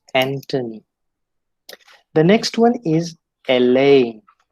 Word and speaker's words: Anthony: there it is thomas then we have anthony it is never never anthony it's antony the next one is